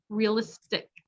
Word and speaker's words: realistic: Reality, realistic. The tick is stressed, so realistic.